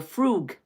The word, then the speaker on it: frug: is doing the Frog oh no the frug not the Frog the frug if someone oh my God what are you doing if someone is doing the fr frug you pronounce it f r o o g frug right what are they